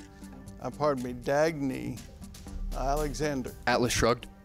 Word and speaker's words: Dagny: you're right in this dystopian novel railroad executive tagne a pardon me Dagny Alexander Atlas Shrugged right thank you for getting